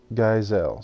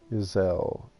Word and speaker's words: Geisel: It's called Geisel. So soft G. Geisel.